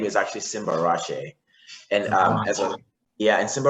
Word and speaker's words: Simbarashe: is Simba so my full name is actually Simba rashe and um yeah and Simba Rashi actually means